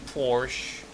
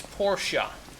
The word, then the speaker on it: Porsche: that a Porsche Porsche that's how you say it by the way apparently it's not Porsche like I used to say apparently it's Porsche a stupid name sounds way stupider than Porsche Porche hey what's up